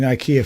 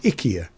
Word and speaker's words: Ikea: to say I mean how do you say suddenly Ikea which has been Ikea forever here is suddenly Ika yeah according to all the adverts ikia that's that's that's what all the adverts are saying in the UK